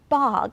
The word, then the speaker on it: bog: This one is the word bog. It's spelled with an O, but it's pronounced as an ah.